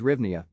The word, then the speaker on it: hryvnia: equals zero pronounced gryvna however the standard english name for the currency is rivnia the national bank of